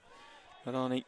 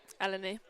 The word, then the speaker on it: Eleni: Young Alani Sherwood picks up. Eleni, sorry. Eleni, sorry. Yeah, there's no R in there, is there? A lot of people say it like that when you read it.